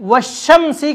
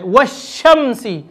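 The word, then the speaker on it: والشمس: है तो हम उसे वश्शम्सी की तरह पढ़ेंगे। लाम वहाँ साइलेंट हो जाएगा और लाम के बाद वाले हर्फ पर तशदीद आ जाए, वश्शम्सी।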